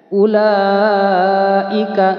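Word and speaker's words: أولئك: yang kelima ini ya perhatikan ulaika bacanya lima harakat atau 2 Seteng Alif mad wajib muttafil ulaika hudam mirbihim wa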